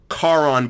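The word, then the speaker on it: Charon: for the first time not knowing that the H is silent that's how I basically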